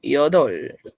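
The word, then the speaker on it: 여덟: Que significa ocho. Iodol. Iodol. Pronuncien yodol. Iodol.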